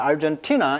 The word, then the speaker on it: Argentina: 자, 티나의 강세가 있어요. 자, Argentina is now on the forefront.